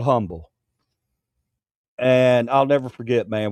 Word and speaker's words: Humble: When I came through CA uh we were moving from um San Antonio to uh Umble. Um Texas. Humble. If you're from there, it's called Umble, though. It's spelled Humble.